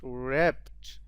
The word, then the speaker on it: wrapped: is smith his head wrapped in a white wrapped wrapped journal wrapped this pronunciation is so important a wrapped w r a p um if you